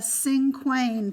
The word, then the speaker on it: cinquain: we're gonna do the cinquain poem today and cinquain has spelled cin q u AI n and I guess in French you would pronounce it sank when sank when I don't speak French